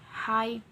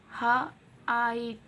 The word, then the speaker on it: height: GH is silent in height, height. We do not pronounce the sound of G and H.